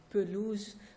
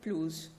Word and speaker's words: pelouse: So for instance, you can say pelouse, but you can also say pelouse, so without the schwa being present.